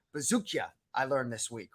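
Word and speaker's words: Buzukja: And Longo's guy, Dennis, Longo calls him Bazooka, but it's actually Bazookia.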